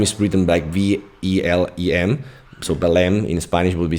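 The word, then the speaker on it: Belém: tower of the lime and the lime is pronounced by lime is written by v-e-l-e-m so belem in spanish would be say uh so like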